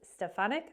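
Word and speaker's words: Stefanik: in Congressional hearing so recently Trump chose Elise stefanic I think is how you say her name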